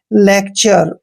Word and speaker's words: LECTURE: Next word देखिए, LECTURE, यहाँ पर भी टी के बाद URE आया है इसलिए हम टी का उच्चारण चे करेंगे, मीन्स लेक्चर।